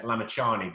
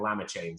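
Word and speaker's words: Lamichhane: league um uh where they used to mispronounce his name uh because it's lamichanie but they used to call him llama chain so they used to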